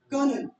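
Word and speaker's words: colonel: मतलब क्या है कि रे साउंड पे स्ट्रेस नहीं डालना चाहिए, इट्स कर्नल, कर्नल नहीं है।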